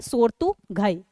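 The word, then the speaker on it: Shortugai: तो सोर्तुगई भी लिखा होता है और घई, लेकिन सही प्रोनाउंसिएशन जो उसका है वो है सोर्तुगई।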